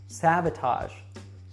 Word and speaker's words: sabotage: Now, this one is tricky because it is not pronounced like the word age. So listen carefully and make sure that you don't mispronounce this one. Mortgage, sabotage, marriage.